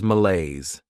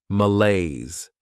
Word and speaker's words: malaise: Next is malaise. This word has 2 syllables, and the stress is on that second syllable, malaise.